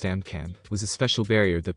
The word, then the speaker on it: AMCM: The anti-magic countermeasure AMCM, pronounced AMCAM, was a special barrier that protects the Synfaxi from any known magical attack that was used by the three factions.